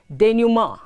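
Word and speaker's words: denouement: i-m-p-o-r-t-u-n-a-t-e d-e-n-o-u-e-m-e-n-t is pronounced denim it is derived from the french language and it means the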